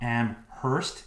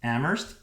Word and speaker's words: Amherst: now i live in amherst massachusetts it's not am hurst it's amherst the h is silent you want to get